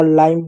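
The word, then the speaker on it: lime: उसी प्रकार एल से ल होगा, आई से आ की मात्रा और ई होगा, एम से म होगा लाइम, लाइम मीन्स नींबू, ई साइलेंट होगा।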